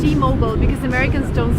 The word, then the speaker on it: T-Mobile: So remember, it's in American, it's T-Mobile because Americans don't say mobile, they say mobile.